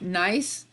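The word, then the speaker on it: gneiss: also the metamorphic rock nice it's spelled G in E is s but there's always a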